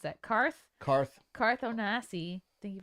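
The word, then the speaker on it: Carth: c a r t h how do you pronounce that karth karth karth onasi thank you for the $2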